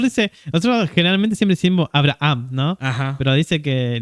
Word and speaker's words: Abraham: Que la H, ¿no? En hebreo, ¿no? Sí. Se pronuncia como si fuese medio como una J, algo así, ¿no? Entonces, Abraham.